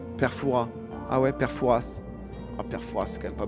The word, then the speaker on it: Fouras: Foura, c'est les touristes qui prononcent le S. Père Foura. Ah ouais, Père Fouras.